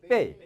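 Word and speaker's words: 惫: 빼이. 다시 한번 고달플비. 비하고 빼이하고 똑같지는 않지만 비슷해요, 안 비슷해요?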